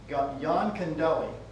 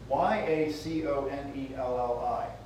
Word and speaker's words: Yaconelli: There's a guy that by the name of Mike Yaconelli. No, I said that name wrong. Yaconelli. Mike Yaconelli. That's better.